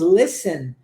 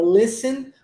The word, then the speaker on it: listen: são pronunciadas por isso quando nós dizemos Listen o t é mudo e a gente não pronuncia ele e em português isso